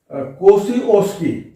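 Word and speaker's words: Kosciuszko: वो आप लिख लें कोसी ओस्की। आप एटलस में नाम देखें, कोसी जेड भी मिलेगा बीच में, साइलेंट रहता है, कोसी ओस्की उसका नाम हो जाता है, और जेड साइलेंट हो जाएगा, कोसी ओस्की माउंट मिलेगा।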